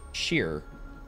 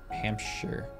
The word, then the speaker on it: Hampshire: Hampshire as a state and pronounce it sheer well you don't pronounce it Shear Americans read our shes in the UK it's sh Hampshire that is true because